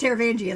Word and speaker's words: Taravangian: It's not even like I don't know how to say his name. Like, it's Taravangian. Like, I think everybody agrees on that.